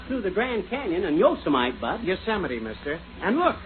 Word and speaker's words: Yosemite: these western names right it isn't yosomite it's yosemite oh yeah and what